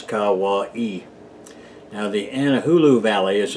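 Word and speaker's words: Kauaʻi: primarily anahulu and Hawaii that spelled ka ua i and pronounce Kawa e now the anahulu valley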